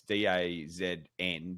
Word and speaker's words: DAZN: It's DAZN, but it's pronounced DAZN.